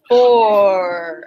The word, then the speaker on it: before: Lowercase b, lowercase b, lowercase b, before. And everybody got this. That silent what at the end there?